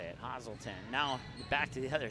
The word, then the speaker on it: Hazleton: down Hazleton positon that's how you say it Hazell 10 now back to the other side Grand Forks